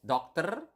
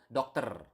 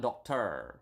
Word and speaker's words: dokter: And then doctor is dokter. Remember in Bahasa, we have covered this in previous lesson. You need to pronounce the R. Okay, so dokter. Not doctor or something like that, but dokter.